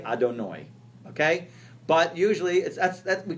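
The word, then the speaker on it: אדני: And then it had the second thing, because how do we pronounce it? We pronounce it Adonut. Ado. We say Adonoi.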